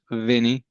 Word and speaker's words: Winnie: It's spelled Winnie, but it's pronounced Vinnie.